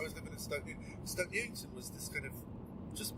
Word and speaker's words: Stoke Newington: Stoke Newington was this kind of just by How'd you pronounce it? Stoke Newington. Stoke Newington. Stoke. And then Newington.